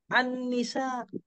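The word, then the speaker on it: النساء: jadi begini walaupun nanti Ustaz gampang ketika transitrasi tulis Annisa itu begini ya ya Al Nisa ini begini ya kalau ditulis Al ni kalau ditulis ya tapi kalau Ustaz gamp nanti presentasi tetap juga bacanya Anni Annisa Iya kan asyams Anda tulis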